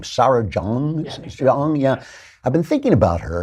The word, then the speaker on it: Jeong: How do you pronounce her name? Sarah Jeong? Jeong, yeah.